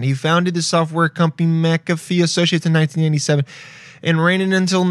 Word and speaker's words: McAfee: Oh, no, it's McAfee. McAfee. John McAfee. Born September 18th, 1945, is an English-American computer programmer and businessman. He founded the software company McAfee Associates in 1997 and ran it until 1994